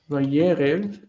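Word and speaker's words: וַיֶּרֶב: Yeah, I knew it had the the accent on the first spot because I knew that it did that. It became a consonant cluster.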